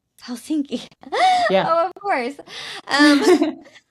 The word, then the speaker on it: Helsinki: Helsinki. Helsinki.